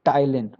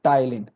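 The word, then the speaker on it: ptyalin: है वह होता है टाइलिन दूसरा नाम क्या होता है टाइलिन होता है पी साइलेंट है पी क्या है साइलेंट है तो टाइलिन पी टी वाई ए एल आई एन तो टाइलिन या सेलावी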